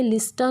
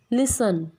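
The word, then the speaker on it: listen: टी, इसको कास्टल नहीं बोलते, लिस्टन नहीं बोलते, कासल, लिसन।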